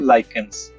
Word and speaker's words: lichens: तो हमने बात की थी जब ये चैप्टर समझा था, litmus is extracted from लाइकेंस, spelling ध्यान रखना, LICHENS।